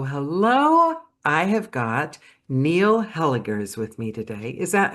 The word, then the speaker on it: Hellegers: I have got Neil Hela's with me today. Is that Am I pronouncing it correctly? That's right. It's a hard G.